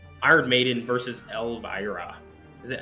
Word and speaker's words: Elvira: Is it Elvira? Is that how you say it? I've been saying Elvira the whole time. Elvira. It's just like Latin. Reading it, the I's are E's, so it's like Elvira.